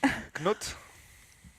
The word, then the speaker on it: Knut: Knut. Sorry for those people who were trying to tell me to pronounce it the correct way.